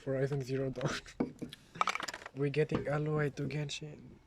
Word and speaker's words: Aloy: We're getting alloy to Genshin. Aloy. Alloy. Aloy. Aloy. Aloy. Aloe vera. How would you pronounce Aloy. A-L-O-Y? Alloy. An Aloy. Alloy. Alloy. Alloy. Yeah, alloy. Like aloha. Yeah. More or less.